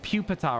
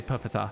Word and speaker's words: Pupitar: I don't sorry okay they're like it's Pupitar I say puppita I don't care um